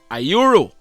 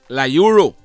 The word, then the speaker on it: Lyuru: 25 years old well his first name is not ayuru like I had said it's La Euro it is spelled l-y you are you got it and